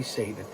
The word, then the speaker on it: Saban: And I fucked that one up too. The good-looking, lady-loving, talking Tommy Saban. That's how you say it.